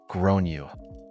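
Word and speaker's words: Gráinne: and I said well in Ireland they typically pronounce it like Gran you her face went red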